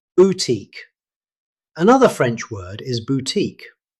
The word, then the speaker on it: boutique: Another French word is boutique. Most native speakers say boutique, stressing the second syllable.